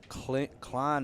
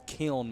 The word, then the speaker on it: Kiln: And Hickman, the junior from Klein, Mississippi. I think that's how you say it. No, it's Kiln, Mississippi.